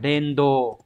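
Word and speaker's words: 連動: Đọc là Dendo.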